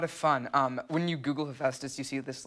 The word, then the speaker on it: Hephaestus: I had to look up how to pronounce it. It's a very difficult thing, but I'm trained by Megan to say Hephaestus. Hephaestus.